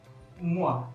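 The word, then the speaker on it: moi: ये है एक्सक्यूज मुआ, एक्सक्यूज मुआ। मुआ की अगर मैं बात करूं तो ये OI मैंने समझाया था आपको, प्रोनाउंसिएशन क्योंकि आगे आती रहेंगी। OI, मुआ, मुआ, एक्सक्यूज मुआ।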